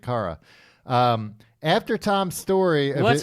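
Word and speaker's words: Kara: Since Cara or Cara? Hey, that's up to you. Spell it. K A R A. I'd say Cara. That's Cara. Cara. Yeah. No, it's Carara. Tim, obviously you don't watch Supergirl. It's Cara. Cara. It's Kryptonian.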